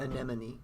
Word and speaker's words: anemone: do uh resemble and enemies is ever-present around anemone thank you it's hard to pronounce I have to say it slowed myself